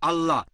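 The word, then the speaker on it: الله: একইভাবে আমরা জানি সঠিক উচ্চারণটা হচ্ছে আল্লাহ। তারা বলে এলা, আমরা বলি আল্লাহ, সমস্যা নেই, সঠিক উচ্চারণটা হচ্ছে আল্লাহ।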